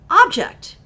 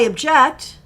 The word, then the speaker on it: object: e c t or that very same word can be pronounced object it's a verb I object it's a noun this is an object but it's spelled exactly the same but the pronunciation is different and the meaning is